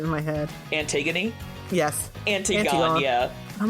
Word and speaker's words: Antigone: Antigone, yeah. I'm like, what is this word? I'm like, "Ah, Antigone." It's Greek, so it's not pronounced how you think it should be.